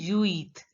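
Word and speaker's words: huit: French so you have to pronounce only uit so the pronunciation will be you eat you eat you eat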